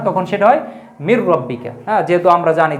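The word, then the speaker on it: مَن رَّبُّكَ: মার রব্বুকা। তো এ জায়গায় কিন্তু শব্দ ছিল মান রব্বুকা। কিন্তু আমরা ঈদগাম করে উচ্চারণ করার জন্য বলি কি? মার রব্বুকা।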